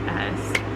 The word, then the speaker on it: Klaus: It's either Callus or Claus. It's Klaus.